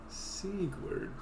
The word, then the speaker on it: Sigurd: Sigurd, the Knight of Katarina, the Onion Knight, who fights for truth and justice. The shining blade. And, no. It's Sigurd. Like Squidward, but without the Q.